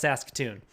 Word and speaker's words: Saskatoon: be like how do you pronounce that it's pronounced saskatoon you don't you don't pronounce it that way